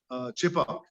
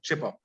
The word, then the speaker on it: Chepauk: So Chhe Bagh, I presume the British couldn't pronounce it and they pronounced it faster, Chepauk.